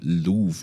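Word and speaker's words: Louvre: It's called the Louve. It's a Louv.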